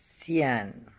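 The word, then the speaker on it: 再见: Sai Xian. Se escribe con Z, sí, Zian, pero la Z suena como si se escupe. Xian, Xian. Sai Xian. Sai Xian.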